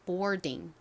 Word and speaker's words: boarding: oar 이렇게 중간에 왔는데요 oar 덩어리로 or 소리가납니다 or 그래서 more이 되죠 more 그다음에 D가 남았는데요는 디귿 소리가 나고 아는 e 소리 는 이응 받침으로 들어가죠 그래서 boarding boarding 이렇게 발음이 됩니다 boarding boarding 의미는요 탑승이